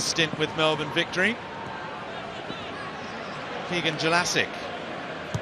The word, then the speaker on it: Jelacic: Keegan Jelacic, the footballer formerly known as Keegan Jelicic. But thanks to a series of pronunciation guides, we have it from the horse's mouth, the correct pronunciation. The former Perth and Brisbane Roar winger, Australian and New Zealand Youth International, would like to be known as Jelacic.